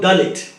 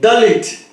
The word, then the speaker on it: Dalit: The linguistic structural construction of Hebrew letters in the word Dalit belongs to the Semitic family of languages. When it is pronounced, it sounds like delight or delete.